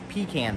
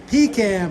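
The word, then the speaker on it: pecan: table chocolate chip cookies peon pie there's Keith hold on Keith hold on don't go anywhere there's Keith it's pronounced pean pie pean pie okay okay sick mods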